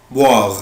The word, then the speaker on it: boire: عود نفسك الاو اي او الاو اي بالانجلش بنطقها وا، boire يعني يشرب.